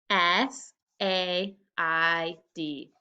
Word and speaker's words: said: one last word today said s a i d tricky part in the middle sounds like an e said okay nice job